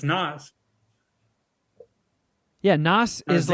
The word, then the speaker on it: Nas: Is it pronounced Nas or Nas? Is it Pam or Pam? I mean, it's Nas.